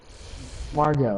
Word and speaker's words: Margot: I think um Harley Quinn will Mar Marget Marggo Robbie Marggo. Oh, that's what that's how you pronounce it.